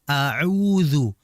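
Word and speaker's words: أعوذ: Bedakan antara a'udhu, hamzah dan ain. Jangan sampai a'udhu berubah.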